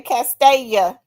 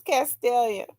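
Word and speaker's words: Castelia: People say Castella. Castella. It's a What is Castella? It's Castellia.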